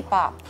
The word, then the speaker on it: Pop: So Pops. Lollipop, diba? So it became Pop. So it's really Pop.